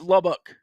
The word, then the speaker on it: Lubbock: you got any ideas you're giving it a dick at the end yeah it's Lubbock okay see there we go that's fine see so you just been saying it wrong hold on yeah you've got the ick in there which I think is a bad thing yeah huh the more